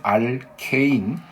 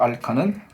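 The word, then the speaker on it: alkane: 이름은 알케인. 자, 저는 토종 한국인이라서요.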